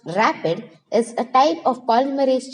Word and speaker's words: RAPD: Random amplification of polymorphic DNA or RAPD, pronounced rapid, is a type of polymerase chain reaction, but the segments of DNA that are amplified are random.